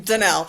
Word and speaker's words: Danielle: My name is spelled Danielle but I pronounce my name Danell.